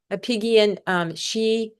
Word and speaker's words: Apigian: Amy Apigian, it's spelled Apig, Apgian. IAN. IAN. Yeah. Apigian.